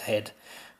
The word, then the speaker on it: head: this case he says head but previously here as well as with who the H is silent we're very lucky to